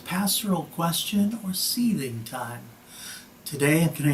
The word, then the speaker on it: Seiðr: Sometimes I say sathing, but the spelling is different. It looks like it should be Seiðr or Seiðr, S-E-I-D-R. That's a weird D. It's not really a D, it's the th sound.